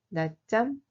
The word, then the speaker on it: 낮잠: 낮잠 자다. 낮잠 se prononce comme 낮잠.